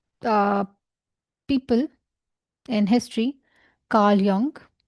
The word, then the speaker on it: Jung: people in history, Carl Jung. Right? And I don't know if I'm pronouncing his name right. Some people call him Jung, some people call him Young. I would prefer Carl Jung.